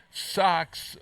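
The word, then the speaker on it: Sok's: Yeah, Sox. Okay, so it sounds like Red Sox, but it's SOK''S.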